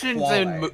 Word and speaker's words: quale: Emotions, Quale. emotions, Yeah, it's pronounced quale.